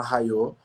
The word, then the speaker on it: Raio: A Rayô é uma marca que eu criei em 2017, é uma marca de camisetas, @seja_raio, que se escreve, né? Mas se chama Rayô.